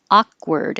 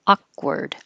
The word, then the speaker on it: awkward: vowel is ah and the second a and looks like it should be ward but it's not it's word awkward and i don't say the noise at all awkward automatically this is five